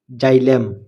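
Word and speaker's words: xylem: হয় যেমন এক্স ওয়াই এল ই এম ই জাইলেম জাইলেম এক্স ই আর ও x xerox xerox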